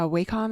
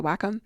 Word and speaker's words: Wacom: I have a a Waycom. I think that's how it's pronounced. A Wackom. Let me let me actually grab that. Yeah, I have like a very basic kind of Wacom one that I bought uh a few years ago.